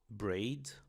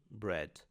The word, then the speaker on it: bread: A palavra pão em inglês tem o encontro de com a, mas nós não vamos falar braid ou breed, mas sim bread. Mudou completamente.